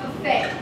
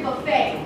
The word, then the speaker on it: Buffet: I call you Jimmy sure great Jimmy it's pronounced Buffet what is the name of the restaurant it's Old Country Buffet buffet buffet buffet buffet buffet buffet b b